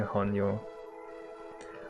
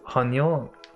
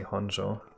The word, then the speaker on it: Honjo: Jake was pronouncing Honyo. Okay, that's because Honyo, you pronounce it like that in German.